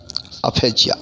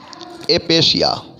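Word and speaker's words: aphasia: एक है अफेजिया। हालांकि डिक्शनरी में इसका जो मतलब कि उच्चारण है, इसका उच्चारण आपको अपेशिया है, एपेशिया। ठीक है, अपेशिया। प्राय आप इसको देखेंगे एपेशिया, एपेशिया।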